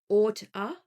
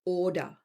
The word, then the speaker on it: ought to: Oughta. Oughta. But we really pronounce it order. So it's almost like O-R-D-E-R.